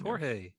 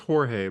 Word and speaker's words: Jorge: years man I know is it is it pronounced himz yeah yeah man okay it's Jorge I know I know it's Jorge but okay uh the new arc is going